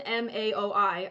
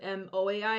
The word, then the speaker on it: MAOI: out is this part methylene blue is an M aoi I've been mispronouncing it I said m o AI it's m aoi uh methylene blue is an